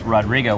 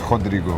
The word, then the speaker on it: Rodrigo: We've got Brazil in the house, Rodrigo, which that's not the proper way to say your name, right? Yeah, it's Rodrigo.